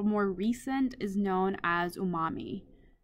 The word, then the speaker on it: umami: And then the last one that's a little more recent is known as umami. Sometimes you hear it pronounced as unami. Either one works for me.